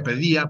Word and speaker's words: Paideia: profe, que leas Paideia, se pronuncia Pedía, pero se escribe Paideia, es el libro de Werner Jaeger, que se llama Los ideales de la cultura griega.